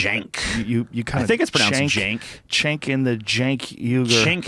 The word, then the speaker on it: Cenk: you said it that way, I was like, Cenk. You kind of. I think it's pronounced Cenk.